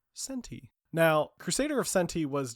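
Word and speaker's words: Centy: of centi uh which every time I look at it I think is called Crusader of century but it's spelled c n t y centi now Crusader of centi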